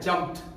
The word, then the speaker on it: jumped: यानी कि यहां पर आप ईडी के उच्चारण की जब बात करेंगे तो उसको टॉ बोलना है, यानी आपका जो राइट प्रोनाउंसिएशन होगा वो होता है जंप्ड, जंप्ड, जंप्ड।